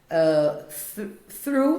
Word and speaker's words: through: Through também não aparece.